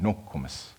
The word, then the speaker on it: Nokomis: In Ojibwe, we pronounce it Nokomis, and that means my grandmother.